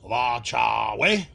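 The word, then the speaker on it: wa' cha' wej: Weidu, since they never say those words in this episode, I'm basing my pronunciation on the TNG episode, The Chase, where Data and Nudok do the Bakul challenge. Nudok says, Wa cha we.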